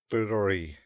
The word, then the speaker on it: ブロリー: I think it's Burori. Burori. Burori. Yeah. So we translate it to Brawley.